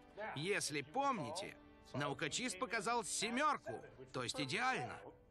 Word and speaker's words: Наукочист: чистящего средства Расскажите нам наука чисте Эндрю произносится наука чист Я так и сказала